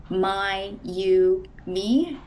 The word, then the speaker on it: Mayumi: My name is Mayumi. It's pronounced um my you me.